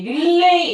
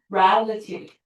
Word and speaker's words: relativity: 자, 이거 하나 더 얘기하면 이 단어로 여러분이 relay 이렇게 읽는데 아니에요. relativity. relativity라고 읽어. 자, 그다음.